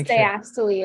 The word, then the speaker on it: diastole: Navina, do you want to, is distal and systole? Systole and distally, correct? It's diastole and systole. Diastole, okay. You've almost got it. Yes, diastole.